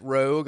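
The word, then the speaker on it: Roeg: Danny Houston is Vincent Rogue. I love how Rogue is spelled weird. Yeah, R-O-E-G.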